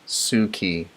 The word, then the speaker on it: Suki: You are so positive and easy to follow, and it's pronounced Suki.